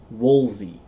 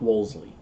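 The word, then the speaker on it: Wolsey: Sharon Jacob Roger woolsley I'm always going to mispronounce that name and I don't know why Woolsey not Wolseley uh so he wrote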